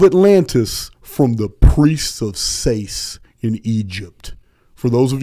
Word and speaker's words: Sais: Next thing Plato said is that Solon heard of Atlantis from the priests of Sais in Egypt. For those of you who want to spell that, it's S-A-I-S.